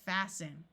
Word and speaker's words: fasten: And fasten. 2 other common words where the T is silent are often, although in some parts of the US the T is pronounced, and Christmas.